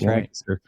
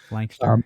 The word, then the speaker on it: Lancaster: and then also Lancaster which nobody but people in Pennsylvania know how to pronounce that word it's lanter lanter yeah yep Lancaster so uh grew up